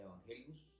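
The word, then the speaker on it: εὐαγγέλιον: de una palabra griega se dice se pronuncia evangelios y traduce Buenas Nuevas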